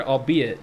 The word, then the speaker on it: albeit: Anthony lighten your anxiety the archaic word albeit does not rhyme with eight you see it with